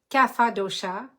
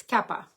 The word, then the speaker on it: Kapha: manage the Cappadocia now a lot of people pronounce it in English Cafe Dosa but actually in Sanskrit it's Kappa so thank you for